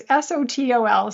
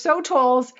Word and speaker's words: sotol: And there's a plant, I don't know how to pronounce it. It's SOTOL, sotol.